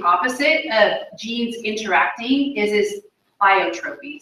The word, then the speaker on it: pleiotropy: Another example, which is kind of exactly the opposite of genes interacting, is pleiotropy. So that's how you say it. You say pleiotropy.